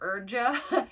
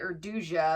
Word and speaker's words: Urduja: I was calling her Urja, but Leslie pronounced it Urduja. And when I looked at it, I'm like, yeah, that makes more sense.